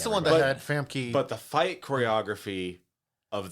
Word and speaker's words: Famke: Famkin Yamkin. That's not how you pronounce her name. It's Famke not.